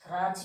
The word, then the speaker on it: grudge: Grudge means feeling of anger. You know, English movie's name is Grudge. So, grudge. We are not pronouncing the letter D. We are telling grudge.